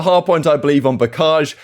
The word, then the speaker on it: Bocage: point, I believe, on Bocage. Some people saying Bocage. Of course, we looked at it yesterday. I looked it up on Google, and Google British pronunciation says Bocage.